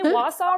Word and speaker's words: Wausau: Did I say Wausau right? No. Yeah, you did. Okay. I'm really afraid I'm going to not pronounce it correctly.